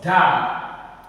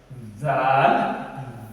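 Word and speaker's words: دال: Dal. Dal is like equivalent to like D in the English alphabet. Dal, Dal.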